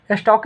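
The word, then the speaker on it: stalk: evening and स्टॉक देखि स्टल स्टॉक होगा क्योंकि में साइलेंट रहेगा एल के स्टॉक है साइलेंट है देर प्रे एंड चेस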